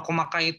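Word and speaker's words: 細かい: Kalau di belakangnya i itu dia hosoi. Kalau komakai itu kai. Di furigananya tambahan itunya. Tambahan hiragananya tuh kai kalau komakai itu. Kalau tambahannya i aja dia disebutnya hosoi. Dibacanya hosoi.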